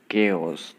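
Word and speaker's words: chaos: ओस इन the room तो यह जो है प्रोनाउंस इसका देखिए इसको बोल सकते हैं केस तो केस का मतलब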